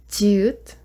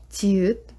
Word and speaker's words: 지읒: For next one, 지읒, it sounds like J. 지읒.